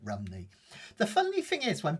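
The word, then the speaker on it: Rhymney: Um, if you if you say it in Welsh, I can't pronounce it completely in Welsh, but it's like um Rumney rather than Rimney, just so you know.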